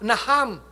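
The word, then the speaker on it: נחם: palabra arrepentirse que es la palabra naham en el hebreo se escribe naam con ch naam significa cambiar de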